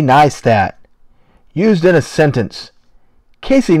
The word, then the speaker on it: Neistat: Casey neistat pronounced Casey neat used in a sentence